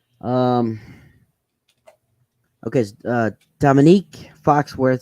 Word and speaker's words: Dominique: and former NFL player Dominic Foxworth said this week Dominique oh Dominique that's the name Dominique yep oh sorry bro that's racist of me right to say Dominic I just how to